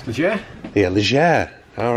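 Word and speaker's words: Légère: What's the correct pronunciation? Legere.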